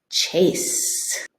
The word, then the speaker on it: Chase: thinking of has a long a sound and it's a name so it it's a Capital C and then they might find this one and I say let's read it together CH a s Chase and the e is a silent E so that's a way